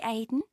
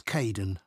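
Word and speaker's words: Kaeden: Hi Aiden. Uh it's Kaden. I'm so sorry. Don't worry. People often get my name wrong. They never know how to spell it. It's K A E D E N in case you ever need to write it.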